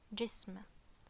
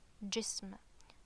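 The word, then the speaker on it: جسم: This word is jism, jism.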